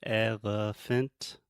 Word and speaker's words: elephant: Okay, so elephant, we have elephant. Elephant. Yeah, so the elephant, the middle sound, that's the schwa.